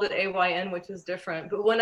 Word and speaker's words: Ayn: I want to make sure I said it right because I wanted to say Ann. It's Ayn though. There's a big distinction there, right? It's A-Y-N, but pronounced Ayn, right?